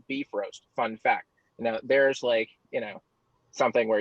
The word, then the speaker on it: Bifrost: We went to a lot of lengths, to try to justify things like, the Bifrost, which is actually pronounced beef roast.